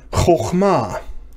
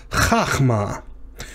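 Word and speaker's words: חכמה: Chokhmah. Now, just as a side note, you look at those vowels under chokhmah, and you might initially think that this should be pronounced chachma. But it's not.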